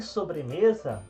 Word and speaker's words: sobremesa: comer uma então sobremesa então a sílaba tônica de sobremesa é o me e agora para finalizar